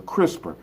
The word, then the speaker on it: CRISPR: It's a crisper, right? And I'm not talking about the thing in the refrigerator. So move away from the refrigerator, all right? It's not that. It's spelled C-R-I-S-P-R.